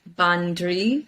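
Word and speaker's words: bandraoi: would call in Irish bandri. So it's ban, B-A-N, dri, D-R-A-O-I, pronounced dri, like D-R-E-E.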